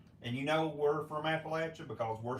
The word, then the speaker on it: Appalachia: and make sure that j s stays in Appalachia yeah what he said you got 40 people